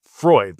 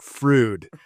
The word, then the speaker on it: Freud: It's Freud, like Sigmund Freud, but the locals, all of us here in Detroit call it Frood.